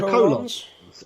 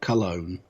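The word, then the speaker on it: Colón: And then we've got the The Colons. Epico and Primo. I think And it's pronounced Cologne, but yeah, okay. Not colon.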